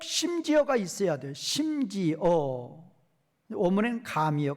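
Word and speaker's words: גם: 어문엔 감이요, 감. 과일의 감이 아니고 히브리어로 발음이 감이라는 접속사예요.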